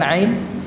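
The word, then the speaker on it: ع: Coba ucapkan ain. Masya Allah, barakallahu fikum. A, I, U, A, ya, A, belum, A, ya. Jadi bukan memanjang A-nya, enggak, A, ya, itu ain.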